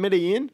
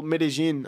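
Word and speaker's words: Medellín: views yeah right in Midian well Medellin as the locals say and then uh you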